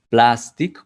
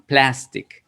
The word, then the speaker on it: plastic: Plastic, no vamos a decir plastic como una A del español, sino plastic, es como una A más parecida a una E.